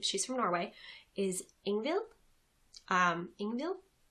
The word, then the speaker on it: Ingvild: Ingvild. I think the D is silent, and the sweater, to